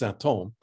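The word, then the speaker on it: sinthome: way it's spelled in French, and this is pronounced symptôme. And this is an old French spelling, which has this, it's a cognate, acoustical cognate, symptôme, which he names this new dimension of the symptom.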